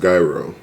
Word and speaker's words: gyro: In Chicago, these are pronounced gyro. But, I mean, y'all call it something else everywhere.